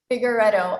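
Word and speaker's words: Figueiredo: Figuredo. I tell people it rhymes with Amorettto.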